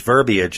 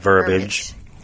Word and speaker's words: verbiage: It's verbiage, not verbiage.